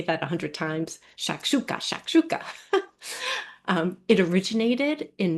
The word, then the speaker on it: shakshuka: So what is shakshuka? So that is how it's pronounced. It's just fun to say to me, right? Can you not say that a hundred times? Shakshuka.